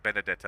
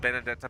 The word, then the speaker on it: Benedetta: experience all right baby benedetta benedetta I think would be the right way to say it yeah I haven't seen